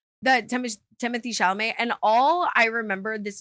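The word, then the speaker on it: Timothée Chalamet: I don't have a French accent the Tim Timothy shalamay and all I remember this is a core memory unlocked is like Timothy shalamay comes from like a famous family and like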